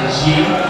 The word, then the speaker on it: 赢: 好， ini bacanya adalah ying.